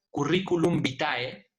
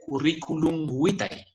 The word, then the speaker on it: curriculum vitae: Cuando usted diga curriculum vitae, ¿no? Entienda que eso no es correcto de acuerdo al latín clásico. Debe decirse curriculum vitae, ¿de acuerdo?